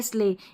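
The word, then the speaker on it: sleigh: पर हमारा रूल है इ आई जी एच ए की ध्वनि जैसे देखिए एट वेट नेबर यह है फ्रेट और यह है स्ले इन सभी स्पेलिंग में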